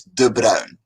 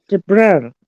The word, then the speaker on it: De Bruin: And the way you pronounce my name, by the way, is De Bruin. De Bruin.